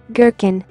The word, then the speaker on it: gherkin: Gherkin, gherkin. G is silent in the following GN words.